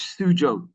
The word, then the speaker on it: Suzhou: Some interesting pronunciation there. It's Dulwich College Suzhou in China. Suzhou, do you know I spent a lot of time on Google this morning? It said it was Suzhou on Google this morning.